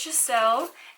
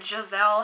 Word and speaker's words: Giselle: And as you guys know, my name is Giselle, and there is a princess in this collection from the movie Enchanted called Giselle, or Giselle, how they say it in the movie. Giselle!